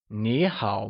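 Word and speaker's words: 你好: literally means you good remember that in Niihau nee is spoken using the second tone so it becomes Neha MA great so remember that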